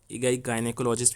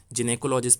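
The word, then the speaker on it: gynecologist: हैं, गायनिकोलॉजिस्ट basically आपका, इसको पहली बात तो मैं आपका इसका प्रोनाउंसिएशन बता दूं, गायनिकोलॉजिस्ट भी बोलते हैं हम लोग, जिनेकोलॉजिस्ट भी बोलते हैं इसको, और जाइनेकोलॉजिस्ट भी बोलते हैं। तीनों टर्म में इसका प्रोनाउंसिएशन होता है, तो कोई भी गलत नहीं है।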